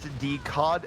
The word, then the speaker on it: Decod: a lot of room decod is pronounced d as decod as in the fish we don't know if